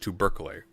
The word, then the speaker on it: tubercle: Tubercle, it's pronounced tubercle.